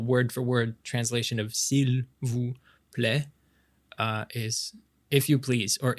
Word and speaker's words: s'il vous plaît: Maybe like faster, like, naturally you'd kind of go, s'il vous plaît. Like as if it was one word, s'il vous plaît.